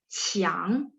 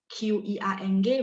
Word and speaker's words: qiang: 然后求球 itu bola, qiang, Q-I-A-N-G, bacanya C-H-I-A-N-G, qiang, nada 2.